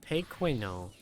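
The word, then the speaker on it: pequeño: The N is the one with the tilde.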